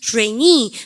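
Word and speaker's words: trainee: 트레이니. 그리고 발음은 여기 강세 좀 길게 해주시면 좋겠습니다.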